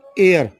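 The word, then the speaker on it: heir: An honest man, honest man ओ ओ आया है, H silent है, इसलिए एन लगा है। एन एयर, एच ई आई आर, एयर means क्या होता है?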